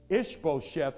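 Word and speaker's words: Ish-bosheth: failed ish beau chef if you ever have problems with that name just remember ishmael ishbo was a descendant of ishmael okay does that help you with pronunciation sometimes i have to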